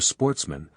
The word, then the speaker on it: Sportsmen: good family who were Sportsmen a French word pronounced with the accent on the men the only trouble was